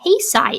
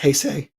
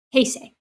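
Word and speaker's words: 平成: I like the Heesai era. Am I saying that right? Hesai. Uh, usually it's pronounced Heay. Heay.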